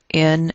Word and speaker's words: naught: And all of this information is communicated very, very effectively by adding the little naught, N-A-U-G-H-T, British pronunciation, naught, for 0.